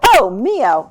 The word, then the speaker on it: Ohmio: it for me again Oho Oho okay so oh Mio okay sounds a little Italian um but how